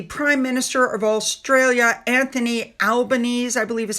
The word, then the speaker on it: Albanese: All right, next up we have King Charles, who had a meeting with the Prime Minister of Australia, Anthony Albanese, I believe is how you say it.